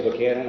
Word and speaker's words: Buchanan: Um, is does it does it qualify under Buck Hannon? Is that how you pronounce it? I would say Buchanan.